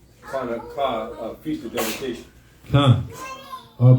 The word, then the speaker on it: Hanukkah: But the correct way to say it is Hanukkah, Feast of Dedication.